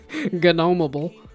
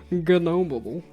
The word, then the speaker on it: Gnomeable: Okay, well, let's see, then I could be a, yeah, Gnomeable. You gotta hit the G there, you can't just leave the G silent. Gnomeable.